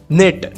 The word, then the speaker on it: knit: निट, KNIT, निट यानी बुनना, second form भी इसका निट है, थर्ड फॉर्म भी इसका निट है, KNIT निट, निट, निट, के यहाँ पर साइलेंट रहता है।